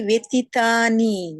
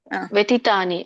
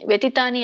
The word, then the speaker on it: ವ್ಯತೀತಾನಿ: ಶ್ರೀ ಭಗವಾನು ವಾಚ ಬಹುನಿಮೆ ವ್ಯತಿತಾನಿ ಜನ್ಮನಿತವಚ ಚಾರ್ಜುನ ತಾನ್ಯಹಂ ವೇದ ಸರ್ವಾಣಿ ನಾತ್ವಂ ವೇತ ಪರಂತಪ ಏ ನೋಡಿ ಹರೇ ಕೃಷ್ಣ ವ್ಯತಿತಾನಿ ವ್ಯತಿತಾನಿ ಅಲ್ಲ ವ್ಯತಿತಾನಿ ವ್ಯತೀತಾನಿ ವ್ಯತಿತಾನಿತ ಎಳಿಬೇಕಲ್ಲ ತಿಯನ್ನ ವ್ಯತೀತಾನಿ ಓಕೆ ವ್ಯತಿತಾನಿ